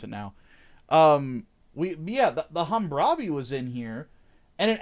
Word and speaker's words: Hammurabi: Yes, I actually know how to pronounce it now. The Hammurabi was in here, and it actually looked like a Hammurabi.